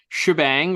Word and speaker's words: Shebang: titled after the character shebang or she bang depending on as we learn in our little talk with Len uh you know depending on your prerogative how you want to pronounce it you know it's kind